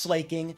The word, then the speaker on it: Slaking: we love pronouncing it slaking it's pronounced slaking look at shaking baking taking waking awaking slaking there you go the